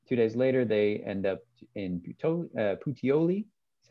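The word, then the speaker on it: Puteoli: two days later they end up in uh putioli that's how you pronounce that um which is about um halfway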